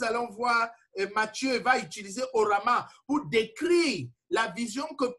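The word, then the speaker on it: ὅραμα: Donc, maintenant, il y a un troisième type de rêve, de rêve qu'on appelle les orama. Orama, ça veut dire, ça s'écrit H-O-R-A-M-A.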